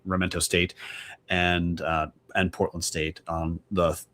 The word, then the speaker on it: Sacramento: And this week, the Vandals will be traveling to Sacramento State, Sac with a silent K, Sacramento State, and Portland State on the Thursday and Saturday.